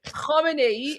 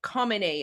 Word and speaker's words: Khamenei: So the kh is the beginning sound for the supreme dictators, right? So the first one was Khomeini, right? And then the next one is Khamenei. You guys pronounce it like Khamenei, I guess, right?